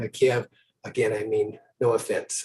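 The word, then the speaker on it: Kyiv: token i understand that kiev which is how i always uh have pronounced uh the capital of ukraine is pronounced kiev uh in ukrainian uh uh and and it's the russian uh the russians who say kiev but uh so i will try to say keep but again if i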